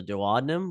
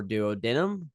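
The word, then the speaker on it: duodenum: our small intestin here called the dadum or dood denum however you want to pronounce it I kind of go with dood denum um I kind of say both uh the dood denum is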